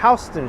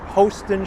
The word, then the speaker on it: Houston: have made it to the street that trips up all the tourists because they don't know how to pronounce it we are at Houston streets not Hosten Street not Houston Street but I forgive you if you say any of those pronunciations I remember a few